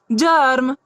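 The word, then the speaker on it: germ: जी ई आर एम, जी के बाद क्या है हमारा, ई है, तब यहाँ जी की ध्वनि क्या निकलेगी, ज। तो इसे हम लोग क्या पढ़ेंगे, जर्म।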